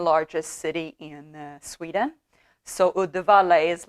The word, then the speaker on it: Uddevalla: Uddevalla, I don't know how to pronounce it in English, but Uddevalla in Swedish.